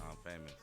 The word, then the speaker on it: IMxFamous: So I came up with Infamous, and it was too close to Mobb Deep, so I changed it to I'm Famous.